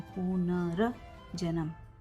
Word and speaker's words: पुनर्जन्म: हमारा आंसर ये है पुनर्जन्म। ऊपर का जो र है, पहले र बोला जाता है, पुनर्जन्म।